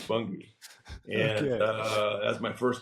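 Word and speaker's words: Bunge: And he goes, Bungie. Okay, all right, so get that out of the way. It's Bungie.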